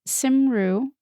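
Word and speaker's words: Cymru: network ITV simru Wales it's hard to pronounce because it's spelled c ym r you but I think I got there and it's never pronounced the way you think it is cuz it's Welsh so Ray devised a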